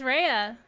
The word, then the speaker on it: Raya: Raya or Raya? Sorry, I forgot how to say it. It's Raya.